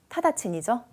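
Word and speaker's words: 直ちに: D1에 있는 직관이 아까 제가 직접이라고 읽기도 했었는데 그죠?이 한자 주의하셔야 되죠. 시험에 잘 나오는데 뒤에 친이 치가 히라로 있으면은 뭡니까? 타다친이죠. 즉시라고 하는 의미의 즉시 이렇게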